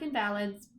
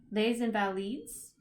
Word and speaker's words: Les Invalides: Louis, I'm going to say this wrong, it looks like Invalids, but I have it pronounced as Les Invalides.